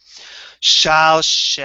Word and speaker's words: Shalshelet: This is the way in which I personally pronounce it, and according to one tradition. It sounds like this. Shalshelet.